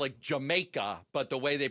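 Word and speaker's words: D'yer Mak'er: actually call it Jamaica, but the way they pronounce it with D maker.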